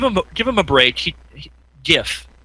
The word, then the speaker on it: GIF: give him a break gif he says gif I say is the right way to say oh yeah you know gif Bethesda that's it's not jiff in Reseda peanut butter made